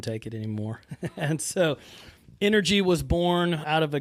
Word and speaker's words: NRG: the owner operator of NRG physio technically pronounced energy NRG energy yeah there